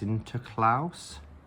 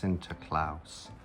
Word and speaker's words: Sinterklaas: I'm assuming it's pronounced Sinterklaas, like Santa Claus, Sinterklaas.